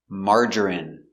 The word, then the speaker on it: margarine: jasmine tea very good so remember these special words ending with i n e we pronounce them all the same in in remember medicine margarine intestine or intestines more than one genuine famine remember it's countable a famine famine and Jasmine hello welcome to English for